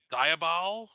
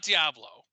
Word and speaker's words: Diabol: in uh but it's diabol diabol type it's not diablo um and uh you know he's gonna look it up so i can tell you how i think it's pronounced it it's it's spelled d-i-a-b-o-l e-i-a-b-o-l yeah diabol diable